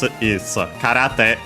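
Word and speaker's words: 空: Literally, it's a compound from Kara, accent on the last mora, on its own, which means empty.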